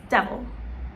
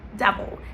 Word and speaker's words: devil: you to do is pronounce the first part normally, de, and then vil, right? So you have an I, so you know that it's written as an I, but in your mind, I want you to think of both an E and an O, right? So it's not devil, it's not devil, it's devil, devil.